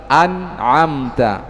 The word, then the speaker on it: أنعمت: Ya, beliau contohkan tadi pada lafaz an'amta, a jangan dibaca e. Ya, beliau sebutkan tadi ya, jangan dibaca tapi a dibuka mulutnya. An'amta dan seterusnya, dan ini kita telah baca bersama di hadapan Syekh.